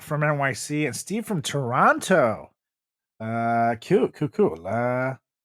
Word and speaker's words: Toronto: So, Steve from Toronto. Now, I learned in my time in Canada that they know that we're not locals when we pronounce the second T. So when you say Toronto, they know you're not local because they say Toronto.